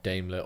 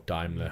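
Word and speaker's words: Daimler: money so and and damler or diimler however you want to pronounce it depending on where you are in the world I think they'll have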